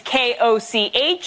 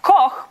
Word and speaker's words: Koch: My last name is K-O-C-H. It's meant to be pronounced Koch, but if you're living in an English-speaking country, 8 out of 10 times I am Olga Koch.